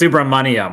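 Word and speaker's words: Subramanyam: Can we get a proper pronunciation, please? I didn't hear it, so it never happened. But it's Subramanium, like money suanium.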